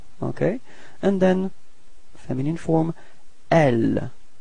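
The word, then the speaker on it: elles: And then feminine form, L. Final S is not pronounced.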